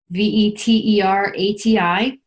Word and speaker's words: Veterati: It's spelled like Maserati, but with veteran at the front, Veterati.